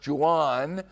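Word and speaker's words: Jhoan: By the way, you see the spelling of his first name, J H O A N. It is pronounced Jan.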